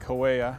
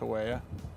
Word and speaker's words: Hawea: We're here on a hillside overlooking Lake Hawea. I think it's pronounced Hawea, H-A-W-E-A, or Hawaii if you're from Boston.